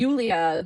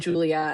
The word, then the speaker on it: Yulia: Um, and Yulia, who people were already saying Julia, and I'm like, she clearly has been saying Yulia.